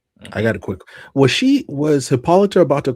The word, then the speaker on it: Hippolyta: look up her name, like it has an H to it. It has an H to it when you look up her. Like they say Hippolyta? Yeah, it's Hippolyta.